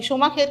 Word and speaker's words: Schumacher: शूमाखेर की एक स्पेलिंग देख लेते हैं, SCHUMACHER, शूमाखेर. ठीक है, इसका प्रोनाउंसिएशन ध्यान रखना.